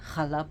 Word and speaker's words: challah: just give challah bread, but challah bread, and it's pronounced that way in Hebrew.